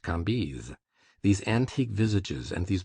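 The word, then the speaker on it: Cambis: was pronounced Levi Kambis C A M B I S pronounced Kambis these antique visages and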